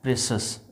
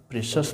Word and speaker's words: precious: सी के बाद यदि IOU रहे तो उसका उच्चारण स होगा। जैसे कंसस में CONCIOUS, प्रेशस में PRECIOUS, है ना।